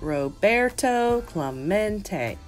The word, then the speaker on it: Roberto Clemente: clawmont it echoed in the nearly empty stands Roberto Clemente was his name and this is pronounced Roberto Clemente as if to introduce himself Roberto smacked the